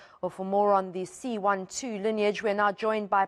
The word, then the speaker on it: C.1.2: Prof, firstly, do we pronounce it C.12? Is that the correct way to say it? Yeah, that's correct. Good morning, Annika. Yeah, C.1.2.